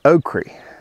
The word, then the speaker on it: okra: me and said that oakrie was actually the original pronunciation of the word and that over time people started calling it okra so i'm going to